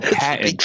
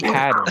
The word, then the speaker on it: patent: No, patent, not pattern. You keep saying pattern. No, it's English. English, British English, we say patent.